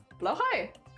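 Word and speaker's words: Blåhaj: doing the best but they said it's close to saying like blow High what blow High something like that yeah yeah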